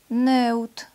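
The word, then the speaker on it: note: Буква И в конце слова не читается и в транскрипции также не записывается. Нэут.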